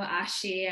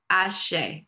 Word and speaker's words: Ashe: Aho, Ashi, I'm sorry if I'm doing that such a disservice. No, Aho, Ashe, that's how we pronounce it.